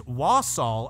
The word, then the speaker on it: Walsall: town in England called walsa I believe is how it's pronounce was or wasel or we're dumb yes I just double checked and it is wasel I now it's it's